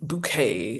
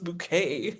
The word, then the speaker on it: Bucket: And the woman, you know, my name is Hiasin Bouquet and her last name is spelled B U C K E T.